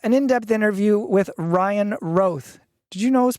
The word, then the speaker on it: Roth: 10 years before someone told me that it's Ro I think it's like the Demi Moore kind